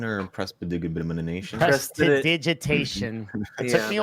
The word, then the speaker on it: prestidigitation: Precipitation or precipitation? Prestidigitation. It Yeah, took me like 5 years of playing D&D to be able to pronounce that. Took me like Prestidigitation.